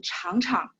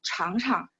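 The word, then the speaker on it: 尝尝: Yang huruf kedua biasanya orang baca dengan nada ringan, sehingga nggak terlalu kaku ya. Jadi, 请你尝尝.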